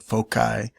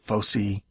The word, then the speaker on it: foci: was in high school my high school teacher said folai so that kind of stuck with me and then you know when you're learning some Latin you you pronounce it fosy or even depending on